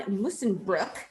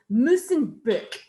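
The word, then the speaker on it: Musschenbroek: So anywho, the way I've been told to pronounce this OE combination is you make your mouth like you're saying the word book, but you try to say ooh. So it's like book.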